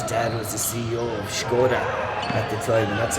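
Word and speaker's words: Škoda: Adam Beyer, his dad was the CEO of Skoda at the time, and that's how you pronounce it, guys. It is Skoda, and it is Oscar playing it out wide,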